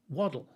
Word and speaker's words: wattle: used to be built how would you spell pronounce w a double t l e and he thought about it he said waddle and say so you waddle when you walk